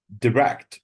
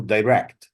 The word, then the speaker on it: direct: The stress is on the second syllable, whether it's a verb or an adjective. Direct or direct. Both of them are correct. But direct is not correct. Okay, stress is not on the first syllable.